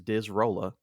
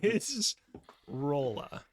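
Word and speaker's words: Disrolla: this guy's name is dis Rolla dis Rolla MH okay uh okay like dizzy roller CU it rolls around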